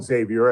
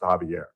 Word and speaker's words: Xavier: Because I used to call him Xavier, and the folks corrected me, and I listened, and in fact, it is pronounced Javier. He pronounced it Javier.